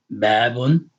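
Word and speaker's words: بابٌ: Bab, you hear the un on the end. It's not another syllable. It's simply that the dhamma on the end, since it's doubled, it has a noon sound, okay?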